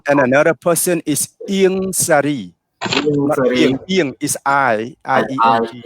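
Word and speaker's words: Ieng Sary: And another person is Ieng Sari. Ieng is I-E-N-G. Ieng Sari.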